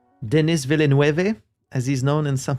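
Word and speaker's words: Villeneuve: Uh, a lot of people don't really seem to know how to pronounce his name, which is funny to me. It's Denv.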